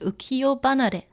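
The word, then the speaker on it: 浮世離れ: So ukiyo, like this world, you know, ukiyo, and it has hanare, but it's pronounced ukiyo banare.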